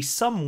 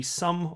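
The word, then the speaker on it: Xumm: Labs, has created the Sum Wallet, spelled X-U-M-M, the Sum Wallet. So it's the letter X, but it's pronounced S, because reasons, that's why.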